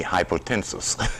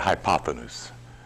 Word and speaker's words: hypotenuse: Hypotenuse. It used to be called by me hypotensus.